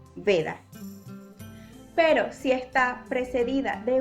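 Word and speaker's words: वेद: Va, al igual que en su carácter de semivocal, cuando está al principio de una palabra o precedida de una vocal, va a sonar como una B, como por ejemplo en la palabra Veda.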